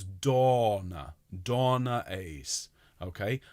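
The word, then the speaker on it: Dona: Kind of a cross between the two, Dave. If we could have a tall O sound, okay, like orange, but then extend it so it's Donna.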